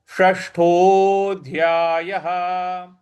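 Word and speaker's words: षष्ठोध्यायः: षट्कोण वाला इसमें मूर्ध्वा को जीभ को रोल करेंगे और मूर्ध्वा पे लगाएंगे तो इसको पढ़ेंगे षष्ठोध्याय य के बाद जो विसर्ग है उसके आगे कोई अक्षर नहीं है। इस वजह से विसर्ग का उच्चारण हम ह ले आएंगे।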